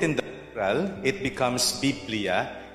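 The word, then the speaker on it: βιβλία: we say it again biblia okay so the way to pronounce the greek is to pronounce every syllable okay so um it's not actually bibliophonia but biblia it's a coin term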